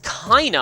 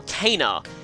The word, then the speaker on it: Caina: Anyway, our next destination is Caina, I think that would be how it's pronounced. This, or Caina.